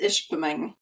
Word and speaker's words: Ishpeming: Michigan I hope I got that right it's Ishpeming ish ping ish we have we have clients